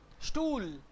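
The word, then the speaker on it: Stuhl: Stool. H is silent. H in the middle will be silent.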